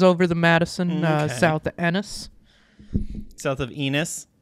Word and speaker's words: Ennis: the Madison, south of Ennis. South of Enos. It's spelled like it's like penis with no P on it. But no, it has 2 N's.